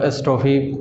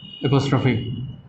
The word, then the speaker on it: apostrophe: बहुत सारे लोगों को कुछ भी इसको बोल देते हैं, एस्ट्रोफी, पोस्ट्रोफी, पता नहीं क्या क्या, ये है नहीं हुए, वो इसका प्रोनाउंसिएशन है एपोस्ट्रोफी और फिर एस, ऐसे बोलिएगा, एपोस्ट्रोफी, एपोस्ट्रोफी एस, ठीक है।